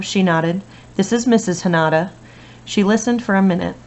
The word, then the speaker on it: Hanada: He said our name like Canada instead of the way it was supposed to be pronounced, with a soft A and the emphasis in the middle.